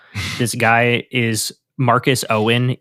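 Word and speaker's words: Eoin: Um, and speaking of unpronouncable names, this guy is Marcus Owen.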